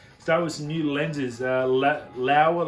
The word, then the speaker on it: Laowa: Laowa lens, I hope that's the way you pronounce it. L-O-A-W-A, I say Laowa.